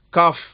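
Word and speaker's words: ك: காஃப். இது சாதாரணமா K. ஆங்கிலத்துல K எழுதுறோம் இல்லையா? அந்த எழுத்துக்கு சமமா இருக்கும். தமிழ்ல வந்து சாதாரணமா கா. கடிதம், கப்பல் பயன்படுத்துறோம் இல்லையா? அதே மாதிரி கா.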